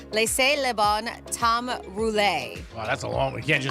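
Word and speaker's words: Laissez les bons temps rouler: them right no it's a it's called It's pronounced Le Leon Tom roule wow that's a long you can't just say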